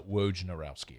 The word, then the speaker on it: Wojnarowski: it wrong this entire time yeah it's uh wojnarowski actually uh pet peeve i don't shocker i